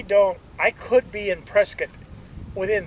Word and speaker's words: Prescott: Now it's not pronounced Prescott even though it is spelled Prescott. It's pronounced Prescat and then to U Flagstaff maybe.